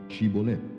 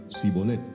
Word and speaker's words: shibolet: le decían ahora pues di shibolet y él decía si bolet porque no podía pronunciarlo correctamente Entonces le echaban mano y